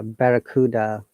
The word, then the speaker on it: barracuda: the cell look at this there is a barracuda for syllables and listened it carefully on modern um